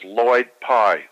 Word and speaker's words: Lloyd Pye: One is Lloyd Pye, spelled with 2 L's, L-L-O-Y-D.